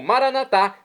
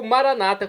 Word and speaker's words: Maranatá: E agora eu clamo, Maranatá, como dizemos nós católicos, do dialeto de Jesus, o aramaico, ou Maranata, como dizem nossos irmãos das comunidades evangélicas ou protestantes. Não importa a pronúncia, o significado é o mesmo.